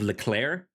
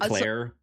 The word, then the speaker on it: Leclerc: Have you seen the episode in season 7 entitled "Le Curse of Leclerc"? All about Charles Yes, Leclerc, yes, in Monaco. a a guy whose name is pronounced much quicker than you'd think.